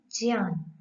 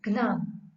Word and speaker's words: ज्ञान: ज्ञ प्राय करके भाषा में हम इसका उच्चारण घ्न करते हैं, जो कि ठीक नहीं है, क्योंकि इसमें जो वर्ण है वह है ज, य, अ। ज, य, अ, ज्ञ। अतः इसका उच्चारण ज्ञ होना चाहिए, यज्ञ, ज्ञान, न कि यज्ञ, ज्ञान।